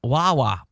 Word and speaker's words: Huawei: Huawei. Huawei. Oh, man. I would have continued. It's sometimes, I guess that H is silent and the U is Wa.